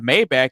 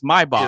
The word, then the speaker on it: Maybach: Just like just like we all know what a Mayback is, but that's not how you say it. It's Maybach.